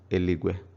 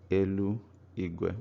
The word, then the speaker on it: eligwe: In Igbo, spoken Igbo, it is eligwe, eligwe. So when you speak fast, it becomes eligwe in normal conversation, not elu igwe.